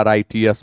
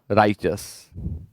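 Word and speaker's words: righteous: पढ़ते हैं राइच अस मेरा मिस्टेक था राइटियस पढ़ना इसका सही उच्चारण होता है राइच अस parallel is known as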